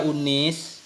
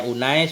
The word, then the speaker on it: Unais: Ughdu ya unis. Kalau kita baca ya unais berarti ini tasghir, tapi ada juga dhabitnya unis. Di sini unais.